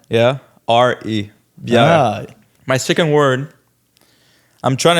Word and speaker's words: bière: Yeah, it sounds close to beer. Yeah. Yeah. Okay. How do you spell it? Bière, B-I-E, but there's a little like accent. Yeah, R-E. Bière.